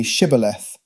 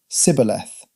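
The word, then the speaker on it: shibboleth: When someone would come there, he would ask if they were an Ephromite and told them to say Shibth since an Ephromite would pronounce it as Cibth.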